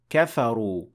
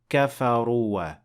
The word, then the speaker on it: كفروا: And here, kafaru ends with an alif, but you will not pronounce it. You will not say kafaruwa. That is not correct.